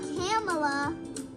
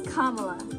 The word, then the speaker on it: Kamala: I need a refresher it's not camela it's not Kamala it's not cam it's kamla kamla Harris okay it's kamla KLA Kam kamla so we took kamla's